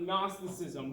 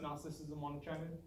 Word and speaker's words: Gnosticism: where Eggman is it they're pronouncing the G is it agnostic or